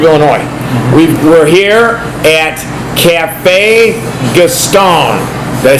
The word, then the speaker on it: Café Gaston: the state of Illinois we we here at Cafe gastone did I say it right yes you did